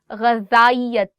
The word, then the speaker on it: غذائیت: There are two alphabets in Urdu. One is ze and one is zal. And there is a slight difference in how you say it. For example, in this one, you are saying غذائیت. And the one that is ze, that is very, very sharp, very sharp.